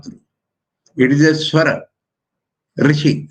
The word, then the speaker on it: Rishi: Rishi, that verb. Rishi is not Rushi nor Rishi.